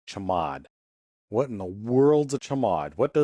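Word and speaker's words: chmod: It's usually pronounced chamad.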